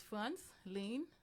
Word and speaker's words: Frantzline: and I'm one of them um so it's France lean and now Alo you see guys there's